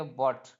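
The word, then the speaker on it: what: वो साइलेंट होता है जैसे डब्लू H eighty W H eighty इसको इसमें जो ह है वह साइलेंट होगा तो इसको पढ़ेंगे व्ट क्या पढ़ेंगे व्ट पढ़ेंगे उसी उसी प्रकार डबल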